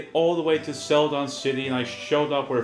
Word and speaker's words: Celadon City: Yep, Celadon City.